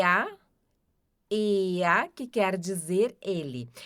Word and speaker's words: er: E a ea, que quer dizer ele. Aqui vai ter o som de A no final, tá? por causa do R ali. Então, a gente não diz R, a gente diz ea.